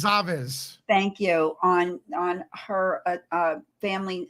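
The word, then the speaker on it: Goncalves: it's on Kaylee, and you're gonna correct me because I know I'm gonna Kelly mispronounce. Gonzalez.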